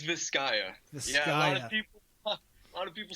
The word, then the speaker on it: Viscaya: your band is uh how do you pronounce that officially it's viscaya a lot of people